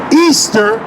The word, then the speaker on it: Ishtar: Lord listen to this Ishtar which is pronounced Easter instead which is tonight